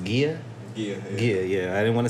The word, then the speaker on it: Gia: And I think his wife the name is pronounced Gia.